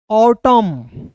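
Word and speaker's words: autumn: साथ याद रखना है एम एन आएगा जी तो ये जो है साइलेंट होगा कौन सा होगा इसमें एन साइलेंट होगा ठीक है क्योंकि ये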